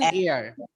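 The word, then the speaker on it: heir: এ হেয়ার না, অ্যান এয়ার, এক ও। উত্তরাধিকারী রেখে গেছে, কারণ এখানে এইচ এর উচ্চারণটা হচ্ছে না।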